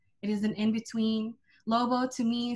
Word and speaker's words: Lobo: my friends find out lobo depending on how you pronounce it can also be lubo or lubong which is mud or earth or the globe my middle name is